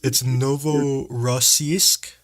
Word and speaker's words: Novorossiysk: Help us pronounce the word. It's Novorossiysk. Novorossiysk, yes.